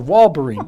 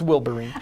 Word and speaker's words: Wilburine: Or Walberine. No, it's Wilburine.